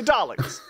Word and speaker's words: Dalek: Now, for the longest time, I thought it was Darlek. Right. A lot of people spell it like garlic too. Or yeah, Darlic. Yeah. Right. Because to my ears and most Americans, we hear R's. We hear an R sound in your guys' of Dalek.